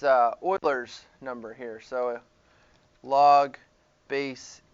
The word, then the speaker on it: Euler: might be like euler how do you get euler from e well the guy's name is actually